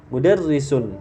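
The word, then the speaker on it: مدرس: itu ya mudarisun had mudarrisun harus jelas mudarrisun sinnya juga harus jelas h mudarrisun siapa ini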